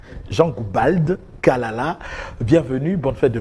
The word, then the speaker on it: Goubald: J'aime bien prononcer le D à la fin. Jean Goubald Kalala.